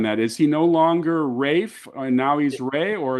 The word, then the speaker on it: Ralph: or is that just as far as I know he's Rafe I haven't heard otherwise and uh that they haven't told me I get it wrong when I pronounce his name so unless I say Ralph then they would tell me but uh raef is